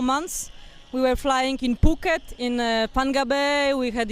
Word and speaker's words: Phuket: It was Phuket. Phuket. All right, because there's other ways to pronounce that wouldn't go on a G-rated show.